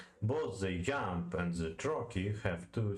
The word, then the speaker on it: trochee: Both the yamb and the trochee have two syllables, and yamb being a rising rhythm and the trochee a turkey, tak. Like Turkey, but Turkey, yeah?